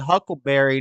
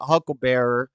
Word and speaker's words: huckleberry: We can confirm, actually, he said huckleberry, not hucklebearer, because he said so himself on social media in 2014.